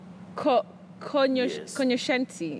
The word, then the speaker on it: cognoscente: So it's cognoscente. Is that correct? Cognoscente. Okay. Yes, cognoscente. Cognoscente. Just like you say, cognac, not cognac. Poignant, not poignant. Cognoscente, not cognoscente or cognoscente. You say cognoscente.